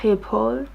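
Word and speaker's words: Schiphol: then at Amsterdam Airport called cheapo well return cheapo but she pronounced it something likes people I needed to find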